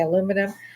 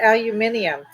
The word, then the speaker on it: aluminium: get them it's like my mother could never say aluminum she said aluminium and it was in my 20s when I was in Europe that I realized they said aluminium so she had been saying